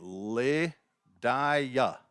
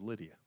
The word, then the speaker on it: Lydia: balls and two strikes looks like you would say her name Le diaa asked Christian Lynn if that's how you say her name he says no her name is Lydia okay well I don't